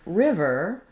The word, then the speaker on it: river: because in the word River the letters r i are the stressed or more important syllable there's going to be